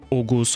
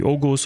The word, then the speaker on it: Oğuz: This pronunciation stems from the late medieval Turkish language where the letter G became silent basically but kept in writing today by using the soft G letter. This means that words like ogus or kagan are stretched when spoken.